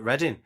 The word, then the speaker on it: Reading: like cuz it is it is how you spell reading but it's just how it's pronounced isn't it? It's just yeah we just call it reading.